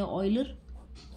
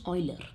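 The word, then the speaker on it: Euler: ने, German mathematician है, ऑयलर यानी कि हम प्रोनाउंस ऐसे करते हैं ऑयलर, जबकि उनकी स्पेलिंग कैसी है, ऐसी। यूजुअली कुछ लोग यूलर भी कहते हैं, कोई दिक्कत नहीं है, बट the exact pronunciation is ऑयलर, है ना।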